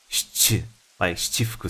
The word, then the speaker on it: Shichifuku: Because I mean, I could say shichifuku, but usually you don't say chi as harsh as that. You tend to say more subtly, like shichifuku street.